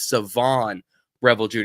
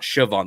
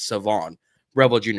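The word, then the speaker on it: Shavon Revel Jr.: to the fellas it's Savon Revel Jr not sioban the H is silent it's Savon Revel Jr although I think he'll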